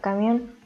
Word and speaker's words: camión: La última palabra es una palabra aguda y es la palabra camión y como termina en N debe ser acentuada.